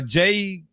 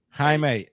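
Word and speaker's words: Jaime: Uh uh Jamie Ger Guera if I'm pronouncing that correctly. Forgive me if I'm not. They were Oh, ha. My bad. Okay. Haime. Oh, stop it. Anyway, what's his name? Oh, okay. Haime. Okay.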